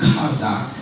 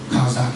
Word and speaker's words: Chazak: It's Chazak and Yah. Chazak, it's spelled C-H-A-Z-A-Q.